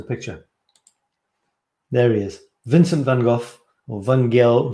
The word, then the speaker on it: van Gogh: there he is vincent van gogh or van gaal van gogh the americans say von gogh the french say don't know what the